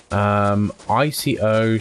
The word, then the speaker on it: Ico: ICO, Shadow of the Colossus, Toe Jam and Earl 1 and 2. Nice. What's ICO? Blacksmiths is right on the other side. We've got there eventually. It's pronounced like Ico.